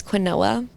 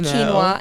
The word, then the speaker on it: quinoa: I used to pronounce quinoa as quinoa, and I got reamed in my sorority for calling it that. But now I know it's quinoa, and it's good.